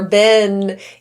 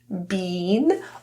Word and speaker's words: been: I've been the double e in the word been or been is a free variation meaning you have the choice because there are multiple pronunciations of this word. You can produce it as an e sound bean or as an e sound been with the tongue lower.